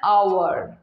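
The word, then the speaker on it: hour: Vowel সাউন্ডের মতন আসছে, তো ওই জন্য এখানে বসে আছে অ্যান আওয়ার।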